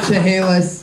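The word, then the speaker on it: Chaliss: And how do you say it? Chehalis. But there's no second H. Just, you say Chehalis.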